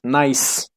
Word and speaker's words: gneiss: Nice.